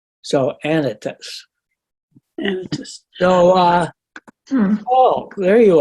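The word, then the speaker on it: Anytus: up edit this I've been all these years pronouncing it anitis and then I looked up and uh it's pronounced anitas usually the Greek names are pronounced on the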